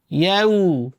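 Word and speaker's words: يَوْمِ: ইয়াউ ইয়াউ ঠিক আছে জবরের পরে ওয়াও এলে আমাদের বাংলাদেশে অনেকে উচ্চারণ করে ইয়াও ঠিক আছে হামজা ওয়াও জবর বলে আও বাও তাও এরকম নয় জবরের পরে ওয়াও এলে রস উর মত উচ্চারিত হবে আমরা ওর মত করে উচ্চারণ করি রসর মত করে উচ্চারণ হবে যেমন ইয়া হামজা ওয়াও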